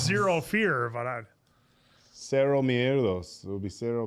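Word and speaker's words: Cero: Sero. It's pronounced kind of like cherro.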